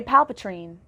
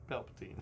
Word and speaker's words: Palpatine: Because she's not going to say, I'm Rey Palpatine. You know? That's not going to go over well. Definitely not gonna say that. How do you pronounce it again? Palpatine.